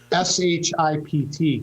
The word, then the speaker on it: Shipt: All the credit belongs to Oakland County, Dave Coulter and his staff, but the service is called Shipt, and I had to be careful pronouncing that, S-H-I-P-T, Shipt.